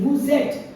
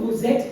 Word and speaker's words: vous êtes: Vous êtes, look at the pronunciation, the S and the E circumflex, they absolutely combine in the pronunciation. Vous êtes, you are.